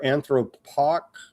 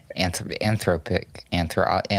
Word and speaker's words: Anthropic: CEO Sam Altman has suggested that OpenAI and other major AI firms, including Anthropic or Anthropoc, you got to teach me how to pronounce that, Ruckus. Anthropic.